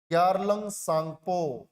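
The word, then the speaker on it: Yarlung Tsangpo: तो जब तक ये तिब्बत में है तब तक हम इसे बोलते हैं यारलुंग सांगपो। इसका पूरा नाम है YARLUNG, यारलुंग सांगपो। T silent है।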